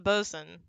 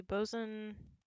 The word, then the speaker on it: boatswain: smee is captain hook's boatswain is how that's pronounced hello charles miner thank you because we've already figured out the boson the only one who hasn't been figured out